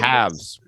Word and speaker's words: halves: two halves right but a lot of us say two halves half but it's not FS it's V said we gotta put